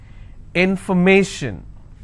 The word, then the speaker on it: information: If I have more number of syllables, information, first I will break it in information. So where do I stress? I will stress on may. Information.